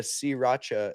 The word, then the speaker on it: Sriracha: sriracha Alright, okay.